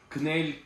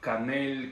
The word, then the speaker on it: кнель: Кнель, канель, конюль, там, не знаю, у всех свое произношение. Это вообще, это кнель, ну, по-русски, да, если переводить французское кнель, то это будет вот слог «э» теряется, и у нас остается кнель.